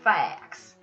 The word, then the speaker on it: Thax: your name sir t-h-a-x it's an old scottish name so you'd pronounce it uh fax that's right i'm gonna